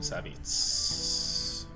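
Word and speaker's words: Savjz: I watched Savit's stream. Or Savages. He's an awesome streamer, by the way. S-A-V-J-Z. I believe it is pronounced Savit.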